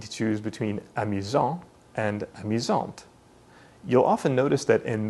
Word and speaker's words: amusante: This means that the masculine version is pronounced amusant with a silent T, and the feminine version is pronounced amusante with the T pronounced clearly.